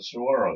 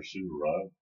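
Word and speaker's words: Suwarrow: Oh, and the Saguaro thing, or Suvarov, depending upon how you want to pronounce it, We have been there, and we have seen exactly what Patricia is talking about.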